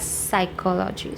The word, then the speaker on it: psychology: and then psychology okay p is silent so we don't pronounce it as P so if you are